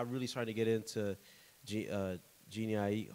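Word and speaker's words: Jhené Aiko: Like, I really started to get into Jeannie Aiko. How you say her name? Janae Aiko.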